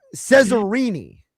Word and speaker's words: Ceasrine: So, Cesaroni.